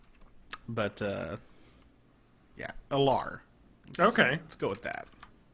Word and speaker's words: Alar: And he, like, pronounced it Ailer, and I was like, what the fuck is Ailer? Really? And then in the second book, he pronounces it Alar, which is how I always thought of it.